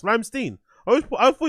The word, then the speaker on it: Rammstein: But Ramstein.